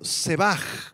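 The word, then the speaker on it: שבח: alabar proviene del arameo sebaj con acento en la a sebaj y con h al final significa adular exaltar a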